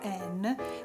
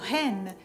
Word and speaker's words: an: Ad esempio, l'articolo indeterminativo an molte volte viene pronunciato hen, però in realtà hen vuol dire gallina, quindi ci potrebbero essere dei malintesi.